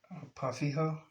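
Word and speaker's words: Pau Ferro: He's from Brazil, and I believe he said it's pronounced Pafijo. Yeah, Pafijo. I believe that's the way you pronounce it. In Portuguese.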